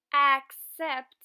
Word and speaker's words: accept: "Accept" es un verbo y se pronuncia con el | æ | sonido al principio.